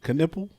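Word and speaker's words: Knueppel: Caniple. Caniple. Yeah. Khan Caniple. That name is crazy. That's wild. You know, it's five of them, bro. It's a conundrum. Oh, what? Caniples?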